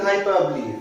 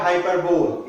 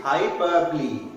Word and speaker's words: hyperbole: Next one is hyperbole. Firstly, I will try to correct your pronunciation. It's not hyperbole, it's hyperbole. Say with me, hyperbole.